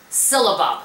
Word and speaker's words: syllabub: It's called whipped syllabub. And I know I'm pronouncing that correctly.